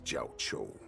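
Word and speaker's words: Jiaoqiu: Since you are so confident that the Cloud Knights will close the ports, Jiao Chou, that's how you say his name.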